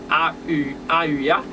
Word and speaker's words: Haheuah: plus tarder non entraîne 24e génial qui c'est a u a ua qui s'écrit ha h e u I a h